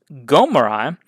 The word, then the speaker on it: Omri: The Israelites would naturally pronounce Omri as Gomri, which became Qumri in Assyrian.